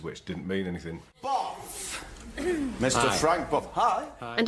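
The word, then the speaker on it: Bough: Well, that's how it is spelled. Boff. No, it's B-O-U-G-H.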